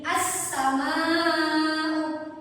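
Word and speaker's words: السماء: Jadi as-sama'u, kalau dibilang pakai jari maka dia akan terhitung menjadi 5 ketukan, 5 harokat. Jadi pakai 5 jari.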